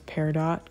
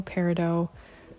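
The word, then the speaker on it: peridot: and green reflective Glitters I'm also going to refer to this as pear dot cuz some people might might know it as that but I guess it's also parido that's like the French probably pronunciation but I have had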